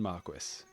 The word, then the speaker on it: Marquis: So without any more waffling, here's Cayden Marquis.